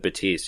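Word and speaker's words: Baptiste: it and he said batiste you don't really pronounce the P I seen II was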